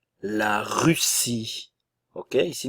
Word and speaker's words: Russie: nasal en la Russie la Russie ok ici n'oubliez pas nous avons le U français la Russie l'Italie le